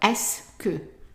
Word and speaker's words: est-ce que: Now, pronunciation-wise, just to remind you, the E, S, T, C, E, 5 letters are pronounced just like one letter S. So all of this is just pronounced S.